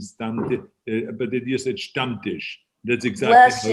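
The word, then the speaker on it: Stammtisch: a great introduction and you're absolutely right you pronounce the word stump dish the right way which is a lot of people have a problem with that they say some dish and stuff but it is a stump dish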